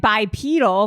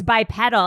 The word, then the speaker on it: bipedal: this is like when I pronounced it bipedal which is the right way to pronounce it and you guys were like no it's bip pedal it's bip pedal and